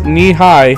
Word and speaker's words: Nehi: up to the knee suggesting the phrase knee high to illustrate the correct pronunciation of the company's name a more provocative Midwestern